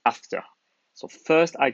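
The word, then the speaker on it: ∘: G after F so the round operator in the middle is pronounced after so first I call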